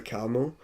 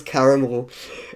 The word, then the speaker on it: Carmel: Like, I really didn't have fond memories for Carmel. And I got his name wrong. I thought it was Caramel. And I think before I even read it, I put a tweet out and I called him Caramel.